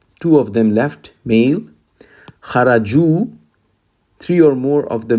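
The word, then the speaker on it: خرجوا: Kharaju, three or more of the males left. Now this is spelled with this wow. Now there is an alif at the end, as you see. This is not pronounced.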